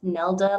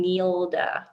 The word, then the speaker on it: Nelda: other socials, it's at Nelda like Zelda. I love that so much. Oh my God. So many people pronounce my name Neilda or Neilda, or, you know, makes it easy. Nelda like Zelda.